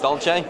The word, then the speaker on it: Dolce: I'm in Dolce. Dolce. Couples, is that right? Yeah, the cool. Yes. Dolce, you said it right.